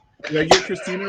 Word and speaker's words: Kristina: name did i get christina right it's german if that helps oh i didn't spit enough then okay no it's christina you know like